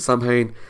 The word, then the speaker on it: Samhain: Yes, I know it's not pronounced Samhain, but for the episode they pronounced it Samhain, so that's what I'm going to say.